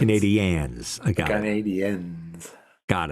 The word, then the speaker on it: Canadiens: Well, it's also the Montreal Canadiens, not the Canadians. Canadiens.